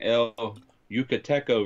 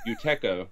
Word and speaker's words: El Yucateco: I just uploaded all the footage for this video, and I was not pronouncing El Yucateco right. I was saying Yuteco.